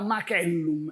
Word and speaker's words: macellum: E a gente sabe, por exemplo, que a C em Roma era dura. Portanto, era macellum e não macello, nem macello, era macellum.